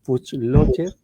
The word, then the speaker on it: Fuchslocher: Bueno, ya lo anunciaba Valesca, el gran invitado que tenemos hoy es Puchlocher. Yo no sé, nunca sé si pronuncio bien tu apellido o no, pero bueno.